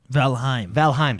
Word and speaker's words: Valheim: Jordan the Man played Valheim, sorry. Yeah, pronounce it right.